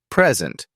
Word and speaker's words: present: will record the video another commonly used example is present when you say preent with the stress on the first syllable it means a gift but when you say preent it means to show or give something practice pairs like these slowly